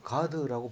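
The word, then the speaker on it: גד: 레아가 이르되 복되도다 하고 그의 이름을 가이라 하였으며이 갓은 가드 이런 뜻인데 가드라고 발음을 하는데 우리말로 갓 이렇게 썼는데 행운이라든가 복되도다 이런 뜻을 가지고 있습니다.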